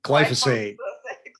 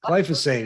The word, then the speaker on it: glyphosate: for you know now how do i pronounce that word again glyphosate glyphosate it's a glycine uh